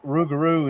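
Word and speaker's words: rougarou: Loop garu is French forwolf. And a lot of people say that that's just that rugaroo is just the cinjun pronunciation of that.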